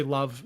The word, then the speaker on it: LOVB: one of them love it's spelled lovb it's you say love love volleyball but they have uh